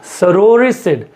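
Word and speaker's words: sororicide: देखिए सोरोरिसिड, इसका उच्चारण आप पकड़िए, इट्स सोरोरिसिड। सो सोरोरी कम्स फ्रॉम, पहले तो सिड का मतलब किलर प्लस सोरो, और सोरो का मतलब क्या होगा?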